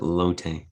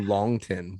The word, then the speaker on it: Longtin: what's your last name i just pronounced it lotte okay well i'm it's french right so it's hard to pronounce the g segment low tin yeah that's yeah it's hard to pronounce for sure yeah i called you long tin what an ass no